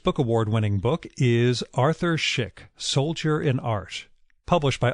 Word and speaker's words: Szyk: info about his essays, books, and presentations on Schick.